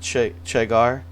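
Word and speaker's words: Čegar: Most famous battle, or infamous one, is the Battle of Seagar, pronounced Chegar.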